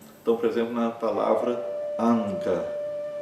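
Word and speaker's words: aṅga: Quando ela aparece antes de uma das consoantes do grupo, então, por exemplo, na palavra anga, anga, que significa membro, né? A pronúncia é praticamente como a de um n, mas é um som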